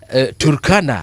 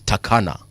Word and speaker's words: Turkana: uh Turkana. I was watching a movie where they actually shot that movie in Turkana, but the the white men in the movie were calling it Takana. The Takana people.